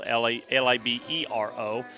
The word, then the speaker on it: libero: A lot of people will call it libero, Libero, but it's pronounced libero, and that is a back row specialist.